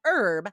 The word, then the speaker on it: herb: I wonder why herb has a silent H and hero and hello don't."